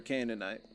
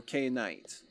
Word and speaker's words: Canaanite: He said beautiful elder Canaanite. Or Canaanite. Someone corrected my pronunciation of that quite a few times.